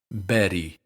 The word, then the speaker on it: Betty: The American English pronunciation of Betty uses the same sound. Listen to them side by side. Sara, Betty, Sara, Betty, Sara, Betty. In both cases, it's just a tap with the tip of the tongue.